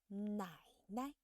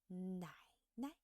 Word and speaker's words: 奶奶: So remember, the first third tone character is pronounced in the first half, and the second character is pronounced in a soft tone.